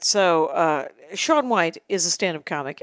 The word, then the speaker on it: Sean: because of dem naps it is the Irish pronunciation of John from the right so Shaun White is a stand-up